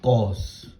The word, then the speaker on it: cos: Though you write SIN, but the pronunciation remains sine. Next one, this is cos.